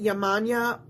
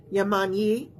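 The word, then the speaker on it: Yemanjá: Some folks pronounce it Yamanya. Some folks pronounce it Yamanyi.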